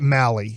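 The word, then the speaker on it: Mahle: I think you say it Malley is the last name. I know it's spelt a little bit different.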